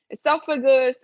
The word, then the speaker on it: esophagus: pronunciation like whereas like esophagus when you have like a pH you make the F sound in Spanish esophagus uh pharynx or pharynx